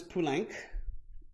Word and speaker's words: Poulenc: it on good authority it's actually pulank as in sanc the number five and so francis punic